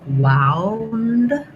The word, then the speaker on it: wound: like with this OU being an ow, same sound we talked about in an earlier word, that diphthong ow. So that opens from an open ah to a more closed rounded ow, ow. And I would maybe write that kind of like this, like wound, because that's going to help you think about the difference here.